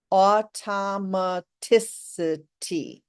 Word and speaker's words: automaticity: fourth syllable automaticity okay six syllables with the emphasis on the fourth and if you think of the word electricity you um can think uh uh more easily of how to pronounce this word electricity has five syllables and we emphasize the third electricity so electricity automaticity they sound similar right you want words to